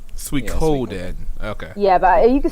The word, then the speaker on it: Suikoden: What's the right pronunciation for that? It's Suikoden. Suikoden.